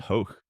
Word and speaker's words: Hoch: the enduring and unfair Hoch rhymes with choke quip that dogged him afterward.